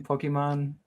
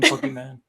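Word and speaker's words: Pokémon: So, I was bastardizing Pokemon in the original episode by calling him Pokeman.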